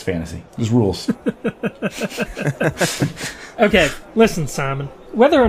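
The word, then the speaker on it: Scimen: thought you'd never ask it is simon simon simon greenhaven simon greenhaven and for those who care it is spelled s-c-i-m-e-n what simon why not it it's a fantasy world names are spelled weird but green haven that's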